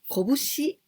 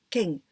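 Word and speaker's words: 拳: you about this kanji we pronounce this kanji kobushi or keng when we say kobushi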